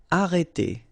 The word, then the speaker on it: arrêter: Okay, remember, when you get this accent circonflexe on the top of e, then you get the sound e. Okay, so it's really opened. It's e. Okay, so arrêter, and then final er here as usual, e.